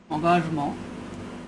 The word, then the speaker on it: engagement: In French it is pronounced engagement, and we have the phrase engaged literature or littérature engagée.